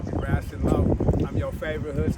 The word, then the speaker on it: Raccit: Now, Raccit, spell that for the viewers. I spell R-A-C-C-I-T. Basically, all it is rabbit with the bees turn to seeds.